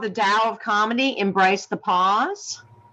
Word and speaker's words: Tao: You can also get my book, The DOW Comedy, on and DOW is spelled TAO for anyone who doesn't know.